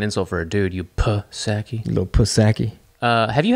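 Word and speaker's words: Psaki: it's they say right they say the p is silent but i'm gonna say that p p yeah uh that's like an insult for a dude you pa sacky little pussaki uh have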